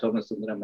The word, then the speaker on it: Somasundaram: But Lionel's got Daya Somasundaram and Dr. Mahesh Jayasuriya. Have I got the pronunciations correct, Lionel? Yes, yes. Professor Somasundaram and Dr. Mahesh Jayasuriya.